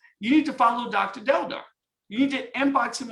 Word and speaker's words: Deldar: Deldar, and I'm saying I pronounced that right, Deldar, correct? Exactly the way you write it, you pronounce it, yes.